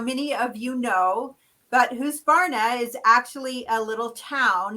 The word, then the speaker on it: Husqvarna: It's Husqvarna. It is the name of a town. So the Q is basically silent in that Swedish language. So it is Husqvarna. So practice saying it so that you say it right.